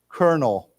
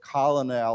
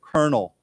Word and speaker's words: colonel: pronounce it actually as it's almost pronounced like this kernel okay it's not it's it's a funny word it's a French word I believe um but it's not we don't pronounce it colonal or whatever we don't